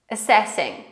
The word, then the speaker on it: assessing: Zwróćcie uwagę, że to a na początku jest takim krótkim a, ponieważ i później jest assessing, ponieważ tutaj akcent musi być położony na drugą sylabę. A, se, sing. Są trzy sylaby, prawda? I teraz na tą drugą sylabę położony jest akcent.